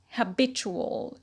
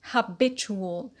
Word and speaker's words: habitual: loin rule ual suffix the stress shifts to the penalty and becomes habitual habitual habit habitual so not